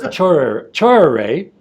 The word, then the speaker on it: Tchoreret: Well, like you said, my name is Tchoreret, right? Just to make sure that the name is pronounced properly.